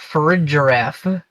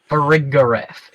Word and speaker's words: Farigiraf: Farigiraf, not Farigiraf. Farigiraf is the official pronunciation.